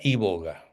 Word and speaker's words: iboga: Entonces busca eh se llama se se pronuncia i boga con i latina y b larga iboga acá y boga.